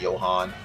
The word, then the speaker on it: Johan: But I I think America, most Americans know that, you know, if you're European or, you know, Scandinavian, then the J is pronounced Y like Johan.